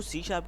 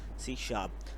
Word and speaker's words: C#: देखो C शार्प क्या what is C शार्प? C बहुत सारे लोग इसको C#श भी कहते हैं। लेकिन जो इसका एक्चुअल प्रोनाउंस है वो है C शार्प।